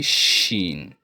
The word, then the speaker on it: ش: And the next letter will be sheen. Sheen. Same pronunciation but that is seen. And this is like you are shushing someone. Sheen.